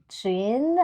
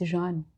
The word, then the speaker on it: Jeanne: Hi, Jeanne. How do you say your name? Actually, I would say it in French, but Jeanne. It's Jeanne. Jeanne. Okay. Yes. Not Jean. Some Jeanne. friends here would say Jean.